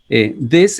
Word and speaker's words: this: Miren que la diferencia en la pronunciación es en realidad notable. This es corta y these es larga. Este no vibra, this, y esta S sí vibra, these.